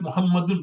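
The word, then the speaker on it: محمد: Although we write, for example, we write Muhammadun, but we just say Muhammad. You don't say my name is Muhammadun, you just say my name is Muhammad, right?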